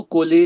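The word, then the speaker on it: Colles: तो ये बोलते हैं इसको कोली फ्रैक्चर। सी ओ एल एल ई S fracture.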